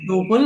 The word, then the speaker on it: tuple: டூப்புள் ஆர் டப்பிள், உங்களுக்கு என்ன specify பண்ணணுமோ அதை ப்ரொனவுன்ஸ் பண்ணிக்கோங்க, ஒன்றும் பிரச்சனை இல்லை.